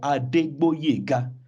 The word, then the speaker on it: Adegboyega: The G there has been removed to Boyega instead of Boyega. So there's meant to be a G before the B.